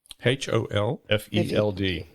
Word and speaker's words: Holfeld: HOLFELD. Holfeld. And so, rhymes with Blofeld if you're a James Bond fan.